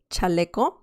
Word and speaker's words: chaleco: letter with vowels okay so the pronunciation is cha cha che che chi chi so that is a peculiar sound in spanish in spanish sorry so some examples are chaleco that means best that